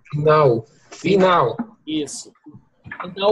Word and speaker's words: final: destino final lemem que o l final aqui né em português é o som de u então falamos final final final isso então o